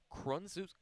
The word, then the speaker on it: Krzciok: first baseman, rather, Brady Krunzuk. Oh my goodness, sorry, it is a mouthful. It does not look anything like that when you spell it as Krzciok as he takes that